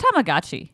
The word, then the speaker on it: Tamagotchi: The Japanese the Japanese pronunciation would be It's Tamagotchi.